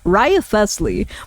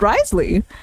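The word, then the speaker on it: Wriothesley: in the English dub I used to like read out all of the syllables I'm like rith thle but no apparently it's just Risley uh I need to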